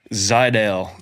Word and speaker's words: Zajdel: Zidel. That's what I thought. Z. So, it's a silent J. It's like the A is a Y. The J is silent.